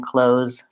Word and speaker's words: clothes: that I'm wearing but you can also then work towards adding that th sound in which case it sounds like clothes the clothes and then I have to move from the th to busy clothes I would say in fast speech not very many people really put that th in their clothes clothes including myself so that's one quick